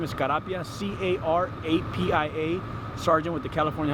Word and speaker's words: Carapia: Once again, your name and spell it. Again, Steve, common spelling. Last name is Carapia, C-A-R-A-P-I-A, Sergeant with the California Highway Patrol Santa Fe Springs area office.